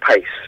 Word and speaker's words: Pace: uh how do I well I pronounce it Pace but you're absolutely absolutely right to say Pac because originally when mom